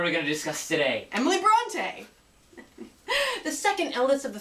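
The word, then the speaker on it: Brontë: and i think i took a nap it's pronounced bronte you uncultured swine it's exactly why we choose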